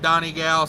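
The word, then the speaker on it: Donegal: uh let's see patrick says you got the pronunciation of donnie gal spot on okay well i'm glad i'm glad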